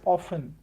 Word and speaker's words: often: Similarly, we learnt often, often, with t silent in it. We learnt it as often.